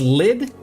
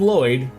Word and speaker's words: Lloyd: Your name is Lid. Holy crap. Lid. I'm Lloyd. You know where it's spelled properly.